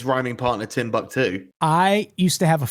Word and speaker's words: Timbuktu: She, until I corrected her at one point in her 40s, for her entire life had been pronouncing Timbuktu as 10 buck 2. The number 10, the word buck, number 2.